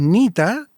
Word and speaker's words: Neta: Y el otro proyecto, o más que proyecto, porque llevo ya varios años en eso, es Nita, que se escribe Neta, es una palabra india.